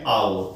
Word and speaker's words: hour: 1 घंटा यानी कि an hour, इसका प्रोनाउंसिएशन होता है hour, कुछ लोग इसको r भी बोलते हैं, r।